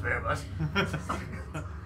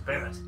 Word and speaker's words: Barrett: It's not Bear Bud. It's a Barrett.